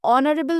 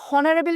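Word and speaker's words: honourable: অ্যান অনারেবল minister. আমরা কিন্তু কেউ হনারেবল মিনিস্টার বলি না, তাই তো? অনারেবল মিনিস্টার বলি, আর অনারেবল এর উচ্চারণে কি আসছে?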